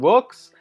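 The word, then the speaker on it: Loox: So personally, I use a reviews app called Looks, and that's spelled L-O-O-X, and it's like a photo review app.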